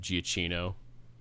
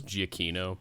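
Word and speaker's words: Giacchino: a bajillion other movies his name looks like it should be pronounced giaccino that's giacino and that hurts me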